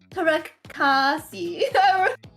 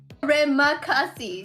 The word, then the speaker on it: terima kasih: So I just want to say salamat, and how do you say it? Was Tarekasi. What was it? Terima kasih. There you go.